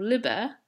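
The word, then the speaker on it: liber: liebherr liebherr room free this is different from liver with a short I which is a book Magnus Magna Magnum big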